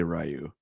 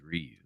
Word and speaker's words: Ryu: but I also say rayu and you say Ryu so whatever or do you say rayu well I know lots of people that I know say Ryu but I say rayu yeah well that so for that one I